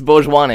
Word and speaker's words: Bhojwanay: Bhojwanay, is that correct? Everyone's getting it wrong. It's Bhojwanay, actually.